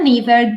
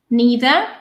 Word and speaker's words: neither: an ancient matriarchy but neither do they reaffirm the idea of societies in which men dominate completely so once again we have a coordinating conjunction neither or neither you can pronounce it either way um that is